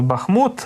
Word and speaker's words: Бахмут: Зайцева бахмутське бахмутське знову Перепрошую тому що я знову за звичкою Ставлю на перший склад наголос місцеві мешканці кажуть Бахмут от в нас суперечка